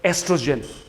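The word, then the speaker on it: oestrogen: steroid हर्मोनमा कुरा आउँछ एस्ट्रोजेन ESTROGEN एक्जाममा सोध्न सक्छ name one female reproductive hormone भन्ने एस्ट्रोजेन को उच्चारण हुँदैन सो ओबाट पनि लेखिन्छ यसलाई है एस्ट्रोजेनको सिक्रेसन पनि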